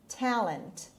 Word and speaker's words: talent: hi jonas money talent talent the the stress is on the first syllable it means the natural